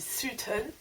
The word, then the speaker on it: Sutton: dit que j'allais à Sutton, alors que ça s'écrit S-U-T-O-N, donc ça se dit Sutton.